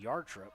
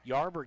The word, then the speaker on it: Yarber: right away by uh I think yard trip or I may be saying that name wrong home let's see here number 10 yarber excuse me yarber gets out to Bradley